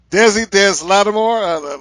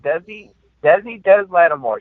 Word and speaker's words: Desi Des Lattimore: Now, the first name, Desi Des Lattimore. How do you pronounce that? You did it right. I did. Desi Des Lattimore.